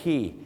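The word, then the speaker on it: quay: สาร เนี่ย นะ ครับ เขา จะ ออก เสียง ว่า คีย์ ครับ ผม ถูก ต้อง เลย ครับ อย่าง เช่น ไป ที่ ออสเตรเลีย ที่ ซิดนีย์ cular Key นะ ฮะ ไป ที่ สิงคโปร์ ครับ CLK Key นั่น เอง ครับ คีย์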